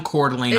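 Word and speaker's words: Coeur d'Alene: So if you're ever if you haven't been to Cordelane, Idaho, you should. Just Google downtown Cordelane, Idaho.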